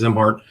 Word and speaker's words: Szimhart: His last name is spelled S Z I M H A R T pronounced Zimart.